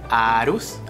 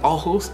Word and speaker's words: Aarhus: primera ciudad fue ojus o para los hispanohablantes Sería más claro identificar como arus arus Pero se pronuncia ojus en en danés y de allí conocí